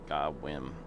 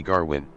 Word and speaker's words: Gawain: Gawain. Gawain. Stop mispronouncing it. What's wrong with me? Alright, we are... Gawain Grimm said, all the Aussies call me Garwin.